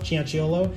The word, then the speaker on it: Cianciolo: I have a hard-to-pronounce last name myself, Cianciolo. It gets mispronounced constantly, so I know what that's like.